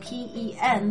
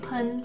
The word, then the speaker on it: 喷: Notice that even though it's spelled P-E-N, the word is pronounced pen, not pen, as in the English word for the thing that you write with. Not pen, it's pen.